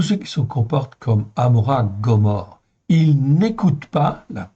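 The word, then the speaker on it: עמורה: Amora, c'est le nom phonétique de, en fin de compte, de Gomorre, tout simplement. En hébreu, ça s'écrit Amora.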